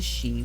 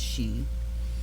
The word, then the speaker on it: Sidhe: A vivid and powerful 78 card deck, painted through direct inspiration from the she, which is spelled S-I-D-H-E, but it is pronounced she, the ancient Gaelic name for the noblest order of the fairy race.